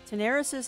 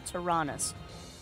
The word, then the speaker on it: Taranis: Okay, so it's pronounced Taranis? I was way off. Huh. Alright, so I'm way off. Oh! Okay, okay. Oh, I didn't know that. Okay, so it's Taranis. Taranis. Remember, Taranis.